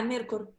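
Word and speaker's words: Myrkur: Yeah, like you said, Mirkur, if I pronounce okay. You say it's like Mirkur. Yeah, Mirkur. Yeah, you say it's a black metal.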